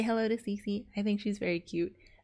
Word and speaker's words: Cissy: But apparently her name is Cece, just like me, but her name is spelled a little differently. Her name is spelled Cici, and mine is spelled Cissy.